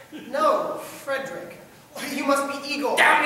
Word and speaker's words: Frederick: No, it's pronounced Frankenstein. Do you also say Frodrick? No, Frederick.